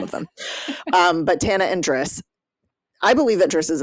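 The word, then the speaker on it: Drys: And he calls himself Driss. Okay. Right, okay. But they spell it D-R-Y-S, which also is, I think, nice because there are dryads involved.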